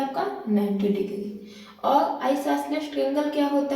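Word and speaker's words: isosceles: इसे जो है मोस्टली जो है इसका सही प्रोनाउंसिएशन नहीं करते हैं और इसको आइसोस्केलस कहते हैं, लेकिन एक्चुअल में इसे आइसोसेलेस ट्रायंगल बोलते हैं।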